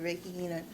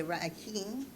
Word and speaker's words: Reiki: Whereas another form of therapy is through Reiki, or we would say Reiki. Still can't pronounce it right.